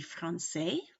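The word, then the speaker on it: française: of that would be Francaise which is a ace and then it's because the S is silent but when you add an e to it it makes you pronounce the S which then affects the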